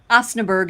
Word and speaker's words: Osnaburg: I'm saying it wrong, Osnaburg. Osnaburg is how I say it. Yep, that's pretty close.